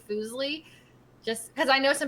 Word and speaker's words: Fuslie: It's like my name, so I'm totally cool with Leslie as well. So if you're ever struggling to say Fuslie, just because I know